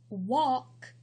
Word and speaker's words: walk: the B is silent walk the L is silent calf the L is